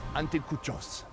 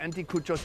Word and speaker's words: anticuchos: We've been eating street food all day, and it all has built up to this moment right here with the anticuchos. How's that pronunciation? Exacto, anticuchos.